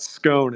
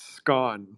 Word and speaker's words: scone: we're pronouncing it wrong it's not scone it's scone or or I've never heard